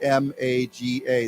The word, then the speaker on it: MAGA: great again right uh many Americans say Maga right abbreviate m-a-g-a they say Maga um so make America